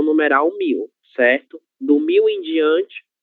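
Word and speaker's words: cem: 100. OK. Ainda que nós não tenhamos a letra I, nós lemos como se houvesse 100.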